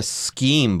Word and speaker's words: scheme: hotel booking schemes there you go here a scheme by the way and yes s CH e M it's pronounced scheme and a shame or anything like